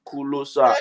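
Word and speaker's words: Ku Lo Sa: of words for example kulosa is is is closer it's actually closer but I I pronounce it in the African form kulosa and you know the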